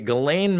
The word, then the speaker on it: Ghislaine: Ghislaine Maxwell defamation suit documents coming out.